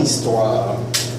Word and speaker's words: histoire: Se supone que el H no se pronuncia.